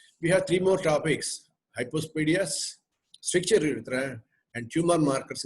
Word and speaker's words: hypospadias: It is hypospadias, but not hypospadiasis. This difference you have to understand. Many people pronounce it as hypospadiasis, which is wrong.